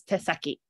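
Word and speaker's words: 手先: actually the tips of the hand and it's pronounced as te saki okay nice so do you remember what city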